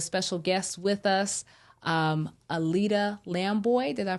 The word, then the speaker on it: Lambooy: Tonight, I have a special guest with us, Alida Lamboy. Did I pronounce that correctly?